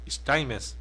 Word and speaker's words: Steinmetz: Como é que pronuncia o sobrenome? Steinmetz. Vai ser alemão. É alemão.